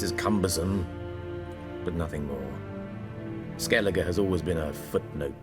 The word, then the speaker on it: Skellige: What's new in Skellige? Skellige. Okay, I've been pronouncing it The wrong.